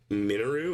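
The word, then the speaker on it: Mineru: Ganon in Hyrule castle and I just found minu is that how you say it yes yeah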